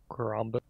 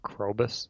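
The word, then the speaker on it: Krobus: be scared to crow Caramba correct man you always say his name wrong what is that crow bus yeah got it right finally a weird little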